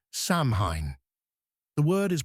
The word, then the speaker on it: Samhain: filled plastic buckets, there was a festival called Samhine. The word is pronounced sain, like the planting of seeds, though it marked not spring, but autumn's end.